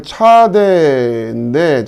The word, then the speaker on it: צ: P 발음. 자, 그 다음에 차대인데, 자, 이건 또 쓰는 방법이, 요렇게 먼저 쓰고, 요렇게 해서, 요렇게.